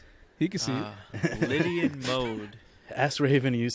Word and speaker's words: Lydian: No, it's Lydia. It's Lydia. It's Lydian, okay. but spelled with a T and Lit, like it's lit. There's a difference. It's Lydian, like Liddy.